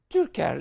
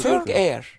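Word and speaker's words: Türker: His Excellency Turker. It's like Turker. Turk Air. Phonetically.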